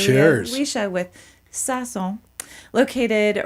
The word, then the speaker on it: Sazón: is the owner of Sazón. Am I saying it right? Close enough. Close enough. I practiced too. Say it for me. Sazón. Sazón. Sazón. Sazón. You're making the O too hard.